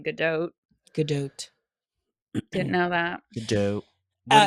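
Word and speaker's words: Gadot: last couple of weeks I learned that you pronounced her last name good do GDOT didn't know that GDOT what did you what were you say gdat gdo oh waiting like waiting for yeah exactly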